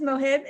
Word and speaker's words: Mohib: Actually, I always called you Mohib, and I think you just pronounced your name as Mohib. Is that correct? Yeah, Now it's Mohib.